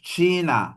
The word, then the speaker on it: China: Oke, Cina untuk pengucapan negara Cina secara apa? Secara Hochdeutsch gitu ya. Standar itu dia baca Ich laut ya, she. Ich komme aus China gitu ya.